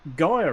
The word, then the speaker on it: Gyre: And how did he pronounce it? Well, he got Gyre right, but what he called it Buford.